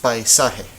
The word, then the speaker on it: paisaje: Okay, so this word is paisaje. How many syllables do you hear? Paisaje. You should hear 3 because this is one of them. Pai, sa, and he.